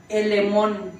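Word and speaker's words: ἐλεήμων: En griego, hermanos, la palabra misericordia es una palabrita en griego que se pronuncia más o menos así: elemón, así como si dijeran filemón, pero sin la F.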